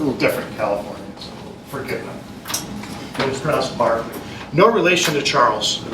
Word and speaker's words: Berkeley: So it's Barkley. Barkley sounds Barkley. Yes, it looks like Berkeley with the E. I get it. It's a little different California. So forget Barkley.